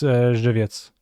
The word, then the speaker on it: Żywiec: It's Żywiec. It's a city? They brew it in Żywiec? That's why it's called Żywiec?